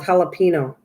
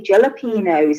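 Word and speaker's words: jalapeño: because it's jalapeno because the j in mexico and spanish is pronounced h so that's why it's called jalapeno oh because over here we say jalapenos and it's not it's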